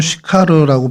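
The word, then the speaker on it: Συχάρ: 어, 헬라어 원어로는 슈카르라고 발음이 되는데요.이 슈카르가 원래 히브리어의 세카르를 어, 헬라어로 음역하다 보니까 이제 시카르로 발음이 됐고 저희 한글 성경에서는 그것을 수가로 번역을 합니다.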